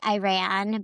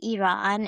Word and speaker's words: Iran: so interesting cuz a lot of people say Iran, but we say Iran and she's like, I used to I used to always be the pronunciation police.